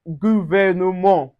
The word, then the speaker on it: gouvernement: Also we also have gouvernement. Gouvernement, we don't pronounce the T.